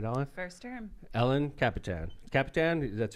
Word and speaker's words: Kapitan: Council woman right alen first term Ellen capan Capitan that's how you pronounce it right all right why you pull